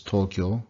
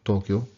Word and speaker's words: Tokyo: Again, those are long O's, so it really could be marked like this. So it's Tokyo, Tokyo.